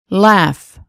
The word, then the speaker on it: laugh: Af, laugh, draft.